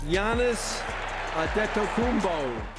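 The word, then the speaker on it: Giannis Antetokounmpo: All Odds NBA Commissioner David Stern managed to pronounce it correctly Yannis adet kumbo but two years before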